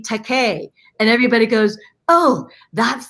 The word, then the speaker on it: George Takei: It's George Takei. George Takei's name is pronounced so commonly. Everybody says Takai, until he came up with, it's okay to be Takei.